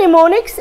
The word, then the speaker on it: mnemonics: use memory techniques mnemonics this is mnemonics m is silent in it do you know what are mnemonics anybody who knows what